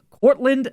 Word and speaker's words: Courtland: know why the fuck I couldn't pronounce courland Sutton's name right there Courtland Sutton today junior uh courland Sutton